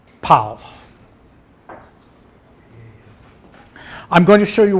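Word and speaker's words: Pál: How do you pronounce his first name? Pal.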